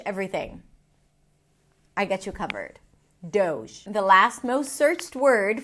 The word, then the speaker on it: Doge: And the way you pronounce it is doge. Doge. It's a D sound. O as in go. And then the sound as in vision.